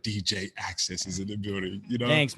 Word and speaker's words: Axcess: with aka dj access yo how you doing man hey man sounds good saying my name like that sometimes people get around like axis i'm like not that not quite like i like how